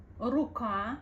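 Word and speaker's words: рука: pretty um short so in Russian it's slightly more like Raa Raa you have to pronounce it you have to give this letter couple of seconds of attention to make the sound R Raa Ruka R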